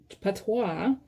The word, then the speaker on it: patois: This is patois. That's how you say it.